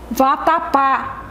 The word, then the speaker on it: vatapá: Papa vocês gostam de vatapá tem acento agudo vatapá assentar todo no último lá Tá certo então nós